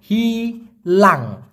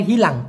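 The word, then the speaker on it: hilang: না দেখুন মালয়েশিয়ান ভাষায় হারানোকে বলা হয় হিলাং হিলাং উচ্চারণটা হবে হিলাং লিখে রাখুন প্লিজ যাদের জানা নাই হিলাং আর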